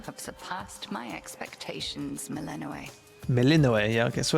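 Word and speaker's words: Melinoë: Melinoe, yeah, okay, so it's pronounced how I thought it was.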